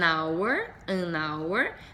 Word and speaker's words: hour: Mais um aqui, tenho an hour, nesse caso o H é mudo, an hour, uma hora,